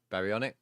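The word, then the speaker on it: Baryonyx: You're playing Ark right now and a Spino is being destroyed by uh I can never pronounce that one. Barionics.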